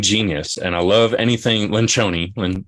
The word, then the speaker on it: Lencioni: and I love anything Lynn Shoney when Loren Lynch only right that's how you pronounce his name bencione rolls off the